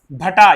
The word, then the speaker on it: भटा: भतवा भटा यह मटा नहीं है। इसमें भ उच्चारण आएगा।